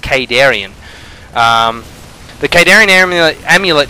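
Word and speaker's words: Khaydarin: you actually listen to The Campaign it is pronounced kadarian um the kadaran am amulet is not out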